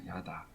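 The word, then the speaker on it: ידע: 이렇게 번역을 이렇게 했는데 요때 쓰는 히브리어가 알다는 다라는 단어 다라는 히브리어 발음을 하면 다라는 겁니다 야다 그래서 어떤 성경은 제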